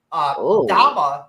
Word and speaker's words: dama: Dama as a word is pronounced Dama. D-A-M-A is pronounced Dama. This the A becomes an ah, a low ah when you add the A.